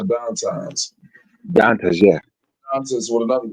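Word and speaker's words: Dantas: Lexi dumps it out to, was it Downtimes? That's how you say her name? Yeah, Downtimes.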